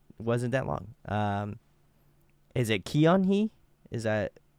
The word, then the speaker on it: Keonhee: Is it Keonhee? Is that how you pronounce it? Keonhee.